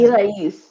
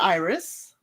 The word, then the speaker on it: Irais: married, so another woman, Irais, her name is Irais. yes, And or they call her Iris. That's how they pronounce it on the show.